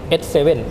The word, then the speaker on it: ACE7: แล้ว ก็ 7 คน อาจ จะ เคย อ่าน ผิด เป็น บ้าง A C E บ้าง แต่ จริง ๆ มัน ออก เสียง เป็น S7 ตัว S เลย ครับ บ อ่ะ นั่น